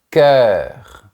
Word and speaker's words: cœur: Un cœur. Ce son est un peu difficile. Il faut faire le son est mais avec la bouche verticale. E. Ensuite, on prononce bien le R à la fin.